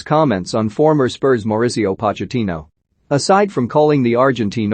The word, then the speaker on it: Pochettino: harry redknapp he wrote i only say pocketino to annoy spurs fans but the fact that no one really knows how to pronounce his name says it all to